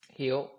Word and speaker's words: Hield: Hield.